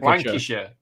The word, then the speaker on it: Lancashire: Lancashire.